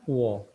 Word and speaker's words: po: Menggunakan puo. Karena huruf P ini ya kalau tambah O, tambah huruf O, kita bacanya adalah puo emangnya. Seakan-akan ada huruf W-nya.